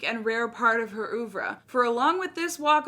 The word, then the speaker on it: oeuvre: and rare part of her How do you pronounce that? I need to go back to school. Oeuvre. Oeuvre.